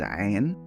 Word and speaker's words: Ain: One of these letters is Ain, A-I-N, Ain, Ain, which is pronounced from the back of the throat.